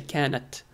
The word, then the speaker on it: كانت: When a word ends with سكون and the next word starts with L, you see that when you try to pronounce it, كانت كانت so it's hard to pronounce. You have to stop at the end.